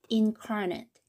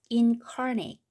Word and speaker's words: incarnate: 자, 똑같이 이음절의 강세가 오는데 발음이 틀려요. 발음을 적어보는 게 좋을 것 같아요. 요거는 incarnate. 이렇게 incarnate, incarnate 이렇게 되겠고, 요거는 여기까지는 똑같은데 incarnate 차이점이 여기에 있겠습니다. 자, incarnate, incarnate 이렇게 발음하면은 형용사가 되겠어요. 형용사.